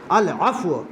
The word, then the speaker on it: العفو: کہ عادت بنا لیے۔ بہت سے لوگ العفو عفو کہتے ہیں، عفو نہیں ہے، صحیح تلفظ اس کا کیا ہے؟ العف العف العفو العفو، معاف کر دے اے